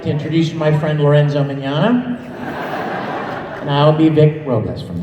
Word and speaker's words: Mignogna: hair like what's that my name is vic Mignogna manana my mom still can't pronounce that name right a lot of people don't get it right but it's Italian so there's cheese in the middle there you know you just exactly like lasagna but oh yeah mid